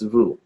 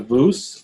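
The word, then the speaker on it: vous: it sometimes you don't like that v-o-u-s that's vu right so there's no s it's not voos it's vu oh but here the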